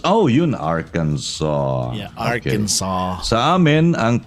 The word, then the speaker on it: Arkansas: clinton arkansas arkansas oh you in arkansas yeah arkansas and pronunciation is arkansas it's arkansas hello from the planet mars um